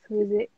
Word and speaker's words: Wizik: You can pronounce or I can Wizik, which pronounce one? Wizik. Yeah, Wizik. I just like you say music. Just turn it Wizik. the other way around, like opposite. Yeah, just a Wizik.